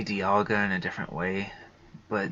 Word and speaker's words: Dialga: I used to say Dialga in a different way, but now that way sounds odd.